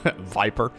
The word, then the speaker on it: Viper: You can go from Roach Ravager Viper into, or Viper, rather not with an F. Viper. Sometimes that turned very Dutch all of a sudden. In Dutch, we pronounce every single V as an F, so sometimes it's a Viper from me.